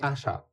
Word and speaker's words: Achard: Ben, c'est Achard. OK. OK. On prononce bien.